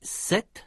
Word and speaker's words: cet: une consonne et « cet » cet devant une voyelle. « Cet » se prononce exactement comme la forme du féminin « sept ».